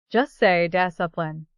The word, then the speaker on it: discipline: to each other, but the trick is to totally ignore the C. Just say discipline.